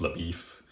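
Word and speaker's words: LaBoeuf: No, I don't mean LaBeouf, but it's like saying Shia LaBeouf, but it's pronounced LaBeef.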